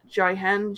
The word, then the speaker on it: Jihen: How do you spell that? Kimono. It is Kemono, Excellent. and then it's Jihen, Jihen.